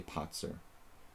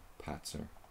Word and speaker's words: Patzer: We have to say Potzer. We want to be faithful to the original pronunciation. Maybe we have to say Potzer. Patzer.